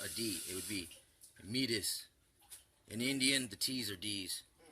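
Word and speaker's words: Métis: Canada see that T right there is actually pronounced addy it would be meatus an Indian the teaser DS northern Great Plain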